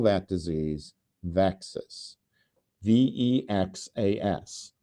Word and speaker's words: VEXAS: call that disease vexus vexas which rhymes with Texas and it is an